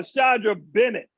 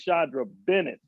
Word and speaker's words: Shandra Bennett: Oh, Shandra Bennett. I said her name wrong. It's Shandra Bennett.